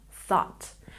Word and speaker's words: thought: the simple past form, thought. Make sure you really stick your tongue between your teeth when you make the th sound. Thought, thought, thought.